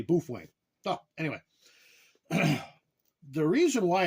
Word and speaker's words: Baofeng: the the company and they said that's the way that's pronounced is bof Wang so don't put comments